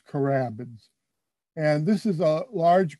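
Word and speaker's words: carabids: is called crabbins and you spell that c-a-r-b-i-d-s so it's carabins and this is a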